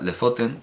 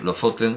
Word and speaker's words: Lofoten: De hecho, me hubiera gustado mucho que Lofoten se pronunciara Lefoten, pero no, Lofoten se pronuncia algo así como Lofoten o algo así.